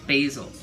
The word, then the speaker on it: basil: Thanksgiving with basil basil I have to remind myself it's pronounced basil Basel is a person basil is a food um you're not pretty